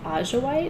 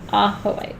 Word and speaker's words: Ajoite: I've heard people pronounce it Ajoite, and I'm always like, you don't speak Spanish, do you? Ahoite, yeah.